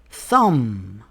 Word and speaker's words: thumb: Rule number 3. The B is silent after M at the end of a word. For example, we don't say comb. We say comb. Thumb.